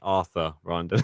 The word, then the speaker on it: Rinderknech: Considering how well Rinderneck's been playing, I've been getting his name wrong for some reason. I kept on calling him Anders. It's Arthur Rinderneck.